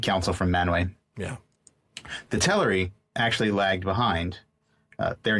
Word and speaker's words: Teleri: chapter 4 is the Teleri have The Teleri, excuse me, have just come over. I know I pronounced it that way for a long time, too. But when Christopher Tolkien pronounced it himself, does kind of uh